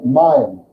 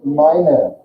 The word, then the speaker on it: meine: So if you see a word like this, you may, from your English speaking, be tempted to say mine, but it's meine.